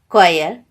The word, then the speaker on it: choir: example y vip wheel etc h is not pronounced when it comes after c g r r for example choir ghost rhyme etc ah children did you all